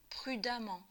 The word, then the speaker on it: prudemment: forme l'adverbe en amant attention à la prononciation on dit aman pour un verbe un adjectif en amt ont construit l'adverbe avec amant donc en fait un nom avec eux ou amant avait qu'à se prononce de la même façon alors quelques exemples évidents